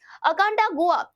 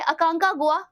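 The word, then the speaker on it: Aconcagua: ध्यान रखिएगा अर्जेंटीना में अकांडागुआ नाम की सबसे ऊंची चोटी पाई जाती है। Next guys, guys I am sorry, मैंने इसको प्रोनाउंसिएशन गलत किया है। अकांकागुआ जो कि इसकी सबसे ऊंची चोटी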